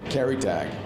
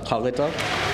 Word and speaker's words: Kalita: Karatak, that's what I was told. Karatak, I'd have to ask him. It's pronounced Kalita.